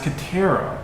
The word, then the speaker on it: Katera: My name isn't pronounced like Waterbender chick from Avatar.